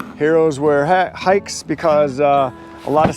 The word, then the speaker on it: HAIX: it their logo looks h-a-i-x pronounced Tykes Heroes wear hat hikes because uh a lot